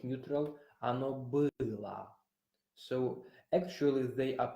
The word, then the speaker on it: было: You remember that o in a syllable that is not stressed is pronounced like a.